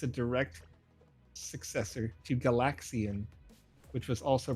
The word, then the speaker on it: Galaxian: a direct successor to galaxian which was also pronounced with emphasis on the second syllable LAX okay so I was